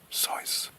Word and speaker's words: Seuss: on the nervous system Dr Seuss pronounced his name sois American Airlines saved forty thousand dollars in 1987.